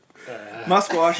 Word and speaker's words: Musquash: Musquash is spelled M-U. Musquash. There's no T though. Musk. Q. Wash. Wash.